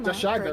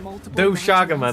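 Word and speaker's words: Doshaguma: The Doshagama, for Doshaga. example. There you go! The dog- She said it! Doshaga! Don't come up my neck ever again, anyone, for saying it right. Doshagama, there you go.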